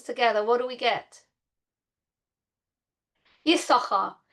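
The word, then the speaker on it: יששכר: Has anybody ever noticed that the name Yisachar is very strange? We should really pronounce his name Yisoscha. But actually his name is a conglomeration of the words Yesh and Sachar. That's why it's got two shins.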